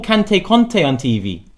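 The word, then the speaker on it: Kanté: They call Kante Conte on TV. How can you get Kante wrong? No wonder they're getting the Turkish names wrong. They get Kante as Conte, and they expect it to do Çalhanoğlu.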